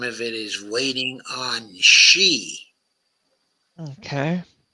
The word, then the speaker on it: Xi: And the name of it is waiting on she. Okay. Some people say it's pronounced as C. Okay. But I've always thought it was pronounced okay as uh she.